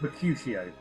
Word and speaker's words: Mercutio: Mercutio. Sorry. Who? Right, go from the top. I don't expect you to understand. Calm down. How do you pronounce it? Mercutio.